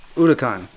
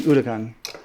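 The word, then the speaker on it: Huracán: And it's not a Huracan, it's Huracan. Lamborghini Huracan.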